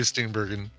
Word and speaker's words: Steenburgen: Mary Steenburgen. Steenburgen? I think it's J. I think it's a soft G.